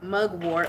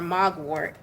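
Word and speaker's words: mugwort: talks about what the M mug wart or MOG wart it all depends on how you want to pronounce it and that's the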